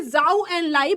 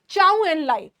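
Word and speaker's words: Zhou Enlai: इसको बोलते हैं बेटा, आपके बुक्स एनसीईआरटी कहती है जाओ एंड लाई, but actually it शुड बी चाओ एंड लाई। इसको सी से प्रोनाउंस करते हैं, बट क्योंकि आपकी एनसीईआरटी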